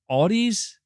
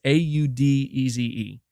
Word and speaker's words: Audeze: Audis? Am I saying that name correctly? Audis. That has to be how you say it. It's Audeze.